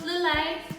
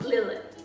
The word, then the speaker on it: Lillet: you'll need a parole and you also need delay it's pronounced delay not Lilith alright just wanna make sure that you know